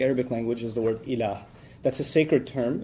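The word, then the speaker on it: إله: La ilaha illallah, in which there's the term ilah.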